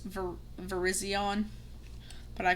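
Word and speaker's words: Virizion: I know I say Verizon, but I know it's pronounced ver Verizion, but I call it Verizon.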